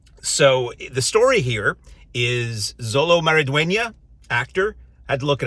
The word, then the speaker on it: Xolo Maridueña: dark knightify everything so the story here is Zolo maraduena actor had to look it up to pronounce it correctly out of respect uh who